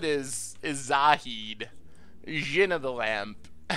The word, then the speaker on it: Zahid: Actually, Salad is Zahid. Jinn of the Lamp. I was apparently saying it wrong and it sounded like Salad, so now we call it Zahid.